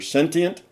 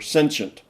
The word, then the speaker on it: sentient: You might say that it's sensient, you know, and and that word can be pronounced either sentient or sensient. In the dictionary, you have both pronunciations for I say it both ways because some people say